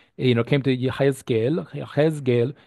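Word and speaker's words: יחזקאל: know came to Yahgel yeesgel is how you pronounce Ezekiel's name in Hebrew in reality he was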